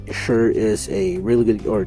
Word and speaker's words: Cher: uh good or not I don't know why I keep pronouncing it as Cher I know it's sure but I'm sticking with chur okay uh so is